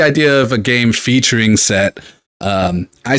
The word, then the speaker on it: Set: I'm pretty sure that the pronunciation is for the Egyptian god, which I'm pretty sure is Set and not Seth.